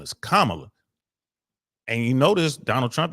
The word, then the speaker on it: Kamala: hand and then she told him how to pronounce her name my name is Kamala and you notice Donald Trump didn't say her